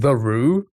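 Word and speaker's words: Theroux: It's pronounced the Roo.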